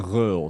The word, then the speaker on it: Gun Ghaol: So if you want to get it the the authentic way, it's gul.